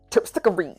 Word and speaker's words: Terpsichore: As you can tell, that is my favorite one, just because of the way that the name is pronounced. Terpsichore.